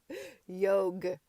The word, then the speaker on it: yoga: mild tone of voice yog shouted morward good humoredly didn't I tell you the a was silent and the word pronounced like yog but it sounds so